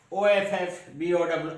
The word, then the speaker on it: Aufbau: The word is spelled like this: Aufbau, but actually it is pronounced as Offbow.